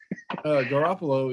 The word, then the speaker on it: Garoppolo: Garoppolo, yeah.